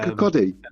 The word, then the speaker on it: Kirkcudbright: It's like Kirkcuddy.